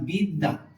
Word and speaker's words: বিদ্যা: লিখলাম একটা শব্দ লিখলাম বিদ্যা বিদ্যা দ টা কবার হবে ব ফল আছে দ টা দুবার হবে একবার দুইবার প্রথমবার যদি একটা বর্ণ